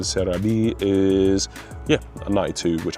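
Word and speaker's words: Celebi: Uh, my Celabe, which I've named in the Japanese pronunciation. Cereabe is yeah, a 92, which I can't complain.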